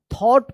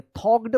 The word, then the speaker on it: thought: Thought, देखिए यहाँ पे THOUGHT, तो देखिए यहाँ पे GH जो है ना यहाँ पे साइलेंट है. थॉट पढ़ेंगे, थॉक्ड मत पढ़िएगा, थॉट पढ़ेंगे.